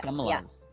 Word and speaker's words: Kamala: So someone like Kamala Harris, I just said her name wrong now. Kamala Harris.